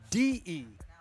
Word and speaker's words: Debauchery: That's DEBAUCHERY. Debauchery app. It's a APP. soft sh, So- not a hard. No, It's a soft sh, not a hard.